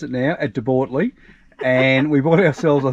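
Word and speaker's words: De Bortoli: But we spent our time, and I've learned how to pronounce it now, at De Bortley, and we bought ourselves, I think it was called De Pole or something like that in the app.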